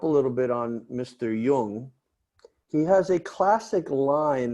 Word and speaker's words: Jung: was psychologist carl and if you don't speak german or at least delete little yiddish you might not pronounce that word correctly like carl jung you know that's right